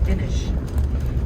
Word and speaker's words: Inis: So Inish is the word for island in Irish. It's spelled I-N-I-S, Inish.